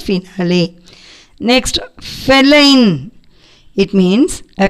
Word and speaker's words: finale: Next, final. It means end or last or conclusion. Finale means, we should not pronounce this as final or final. Finale.